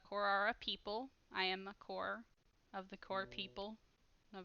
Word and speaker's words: Kor: um so uh you would call me a core uh kor if you wanna keep track of how to spell that and uh hooks are kind of our